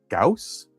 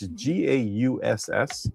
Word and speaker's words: Gauss: But the other thing from CES that I saw, it was called I think it's pronounced Gauss. It's Gauss. Yeah, the metal printer.